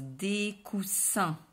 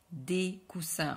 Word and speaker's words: coussins: sans prononcer le s coussin la même chose des coussins des coussins en prononce pas baisse féminin une masculins 1 ok